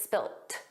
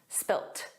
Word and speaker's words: spilt: that's spelled differently because it's spelled with a T and it's pronounced that way. So, it's just the end. In American English, it's always spilled, a soft D. But in British English, it's spilt.